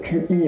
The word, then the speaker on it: Qi: là, vous savez, le QI, en fait, ça se prononce Qi.